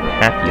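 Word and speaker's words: PAPI: going to take a look at are called happy lights that's spelled p a p i stands for precision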